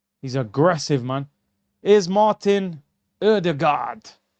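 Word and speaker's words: Ødegaard: I think that's how you actually meant to say his name. I heard um one of the Norwegian journalists. They said Erdig God, but you know, English were just like, "Yeah, odor god."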